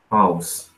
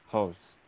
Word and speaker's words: halves: The cerebrum has two how can I pronounce this? House. Halves.